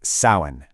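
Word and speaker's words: Samhain: And just so you know, it's pronounced sin.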